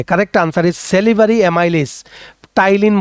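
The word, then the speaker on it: ptyalin: Correct answer is salivary amylase, টাইলিন বলা হয়, পিটা সাইলেন্ট টায়ালিন বলা হয়।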